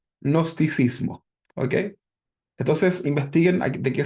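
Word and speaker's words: gnosticismo: Se escribe con g nosticismo.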